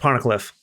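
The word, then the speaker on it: Poneglyph: P PFF PPH yep it's pronounced ponic Cliff well why would you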